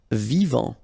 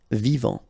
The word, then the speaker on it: vivant: Vivant. Final T not pronounced. Vivant.